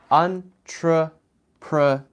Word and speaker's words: entrepreneur: Okay, pronunciation of this word is entrepreneur. It's a little difficult, but it basically has 4 syllables. Syllables are beats in a word.